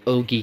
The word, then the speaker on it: ogee: under the category of ogee clocks or og clocks however you wish to pronounce it i think ogie is actually correct but nonetheless there is